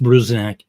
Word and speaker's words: Bruzenak: You don't have to be real big on the E. Just Bruzenak.